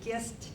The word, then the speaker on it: Gist: They pronounce it Gist down there.